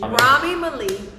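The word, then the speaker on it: Rami Malek: There you go, Rami Rami. Malik.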